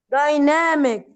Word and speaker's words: dynamic: We say dynamic. Dynamic. The stress lies on the second syllable.